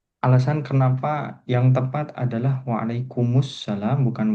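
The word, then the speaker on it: وعليكم السلام: ini sudah tahu ya ee maknanya apa kalau alasan kenapa yang tepat adalah waalaikumussalam bukan waalaikumsalam apakah sudah disampaikan di kelas ini di kelas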